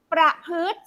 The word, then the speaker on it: ประพฤติ: มั้ย อยู่ ตรง กลาง ประพฤติ สระ อิ ไม่ ออก เสียง เด รส ชาติ สระ